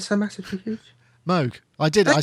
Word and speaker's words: Moog: so massively huge what sound so massively huge Moog I did I said it right yeah first